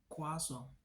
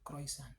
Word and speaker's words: croissant: Contoh, sebaiknya teman-teman mengucapkan kata croissant dengan croissant dan bukan croissant, meskipun dua-duanya terterima.